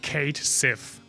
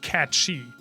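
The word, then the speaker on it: Cait Sith: in the west that thought this name was pronounced Kate Sith but it is of like gelic origin or like or definitely Celtic origin and it's pronounced cat shei and the Japanese knew that because it's um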